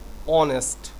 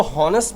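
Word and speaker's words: honest: इफ अगर all friends were ऑनेस्ट इसको होनेस्ट मत पढ़िएगा। ऑनेस्ट पढ़िएगा। मैं बचपन से होनेस्ट ऑनेस्ट पढ़ता रहा। मुझे पता ही नहीं था इसका साइलेंट होता है।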